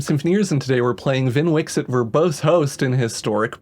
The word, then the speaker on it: Vnwxt: host in historic brawl are you wondering if I said Vin Wix it properly yes I did or that's the Canon pronunciation According to some advertising that was on Twitch for anyone who cares about that sort of thing sorry to the person who wanted it to be van wax hat um anyway so the